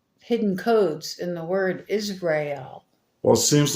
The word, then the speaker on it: Israel: words together, is real, if you said them together, it's like saying Israel. You know, because the way Americans say it, we say our words quick and run them together. So we say Israel. So that sounds like is real.